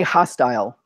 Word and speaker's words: hostel: You can say hostile. That's an alternate way of pronouncing it. That might be easier for you.